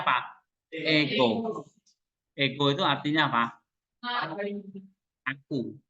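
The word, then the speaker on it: ἐγώ: Ego. Ego itu artinya apa? Aku, saya, ya, I. Kok nggak ada hanya? Kok nggak ada hanya? Kenapa? Nggak ada hego, tapi ego.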